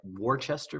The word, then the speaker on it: Worcester: It looks spelled like Worcester v. Georgia, but it's pronounced Worcester v.